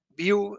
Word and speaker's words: Vue: View, de hecho, sería como la manera de decir vista, las pronuncia así como vista en inglés, o sea, una vista